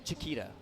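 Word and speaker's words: chqta: words so I yeah Chiquita is what is typically how I would pronounce c-h-q-t-a and that's what we're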